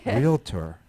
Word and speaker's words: realtor: She said realtor. Yes, that's right, guys. There's it's no I in realtor.